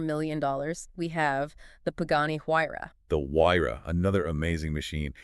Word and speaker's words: Huayra: Huayra.